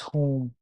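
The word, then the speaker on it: whom: वन इज़ हुूज़ the other one इज़ हुम इसको pronounce आप करते हैं हुज़ हुज़। ठीक है? और इसको आप प्रोनाउंस करते हैं हुम। यहां पर उ की साउंड आ रही है।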